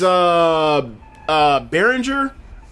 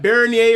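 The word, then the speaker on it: Beringer: He don't play much, but his name's Behringer, or it's pronounced like Bernier or something like that, but it's spelled like Behringer, right?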